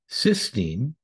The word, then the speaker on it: cysteine: In this discussion, we'll look at the most popular ways: oral glutathione, cysteine, cystine. Please note the difference in both spelling and pronunciation.